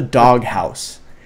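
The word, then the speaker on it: Dog Haus: It's called the Dog House. It's spelled dog, H-A-U-S.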